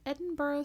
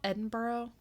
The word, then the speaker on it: Edinburgh: early 19th century in Edinburgh Scotland which did you do you know how spell Edinburgh do you know what the word looks like it looks like Edinburg yeah I didn't know